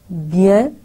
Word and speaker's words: bien: ho gaya, s rather, bien, bien mein bhi n, jaise hum bon, bonjour, to jo n hai, jaise urdu mein noon gunna hota hai, nasal sound, wo naak mein reh jati hai, hum pura usko pronounce nahi karenge.